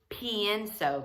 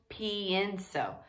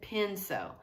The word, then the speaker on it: pienso: Because it's pienso. Notice it adds that other syllable, pienso. This is just penso.